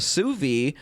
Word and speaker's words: sous vide: We're talking about an appliance called a Sous Vide. Hopefully you looked it up over the break. It's spelled it's pronounced Sous Vide, which is what I've been saying.